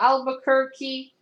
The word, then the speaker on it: Albuquerque: me I think fiverr told me how to pronounce that thank you right Raphael Albuquerque the colors are by Dave make mek Kagan